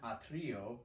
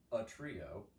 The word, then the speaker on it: atrio: Dominum in atrio, not a trio, atrio, one word, sancto eius.